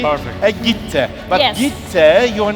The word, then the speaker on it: Gitte: It's the right pronunciation, right? Viki and Gitte.